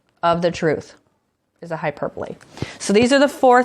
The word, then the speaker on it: hyperbole: now my last one it's spelled hyperbole but we say hyperbole hyperbole a hyperbole is an extreme exaggeration